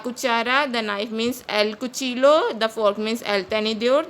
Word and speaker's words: Cuchillo: Double L is pronounced as J in Spanish, so it is pronounced as cuchillo.